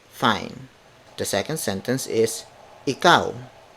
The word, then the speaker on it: ikaw: so in Filipino that would be my booty ikaw my booty ikaw my booty he cow so